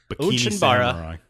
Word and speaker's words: Onechanbara: Today we are discussing Onechanbara. Onechanbara. Oh, I asked you right before how to pronounce it, and I still screwed it up. Onechanbara.